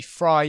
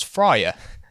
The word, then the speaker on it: Frye: Anderson gladly pointed out I was pronouncing the fry surname as fryer which I will be correcting for this video also due to the